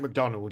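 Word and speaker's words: Macdonald: Like Adam said, the they they had um I always I always say his name wrong. Mike Mc say McDonald. Um correct, isn't it? Mike McDonald.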